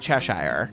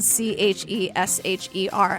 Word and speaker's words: Cheshire: It's not Cheshire. It's not, like we said in last week's episode. Yeah. It's not. So now I have it spelled Chesher every time it's mentioned